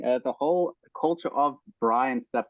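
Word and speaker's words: braai: r a a i Bri like this Bri that's it because it's aans word because that a a i in Africans is pronounced I Bri Bri that's the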